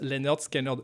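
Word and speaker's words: Lynyrd Skynyrd: Pronounced Leonard Skinner, très bon.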